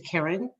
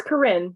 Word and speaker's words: Karen: uh question is to karen am i pronouncing your name right it's corrin it's fine okay okay